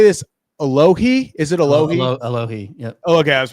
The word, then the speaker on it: Alohi: Alohi, yep.